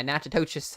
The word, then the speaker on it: Natchitoches: Manny and Natchitoches, or not, yeah, Natchitoches. I guess is how you pronounce that.